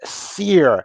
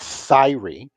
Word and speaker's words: Seir: One of them being very adamant like it's Seir, not Syrie.